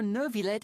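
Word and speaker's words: Neuvillette: I saw you all chatting just now, but it seems you still don't know who Monsieur Nervillet is. That's how you pronounce it.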